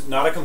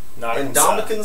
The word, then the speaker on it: Ndamukong: Other news, Nadakum Suh was fined in that game, $100,000 for a low blow. Why do you still pronounce his name that way? That's because what I call him. Whatever. Ndamukong Suh.